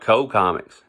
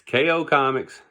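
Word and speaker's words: KO Komics: I've heard some people call it Co Comics. It's not Co, it's KO Comics, and comics is spelled with a K.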